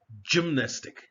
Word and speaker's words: gymnastic: Now, when the letter G is followed by E, I, or Y, it is pronounced as a J. Otherwise, it forms a hard sound as in gold, G.